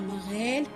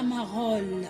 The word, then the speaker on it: marelle: Oui, on dit la marelle, pas la marole. On ne dit pas ol, on dit elle parce que c'est la syllabe elle.